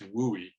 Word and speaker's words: WUI: The acronym is WUI, pronounced WUI. Once a wildfire enters an urban fire, it becomes a WUI fire, and it's a very different animal.